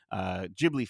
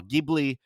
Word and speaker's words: Ghibli: started the review, and I think Ghibli is how Hayao Miyazaki pronounces it. So I think maybe that's the Japanese pronunciation. And then I've heard a lot of people in the West will say Ghibli.